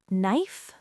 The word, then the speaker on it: knife: The K is silent. Silent? So just knife?